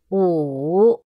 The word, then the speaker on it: 五: 五，乌，三声五。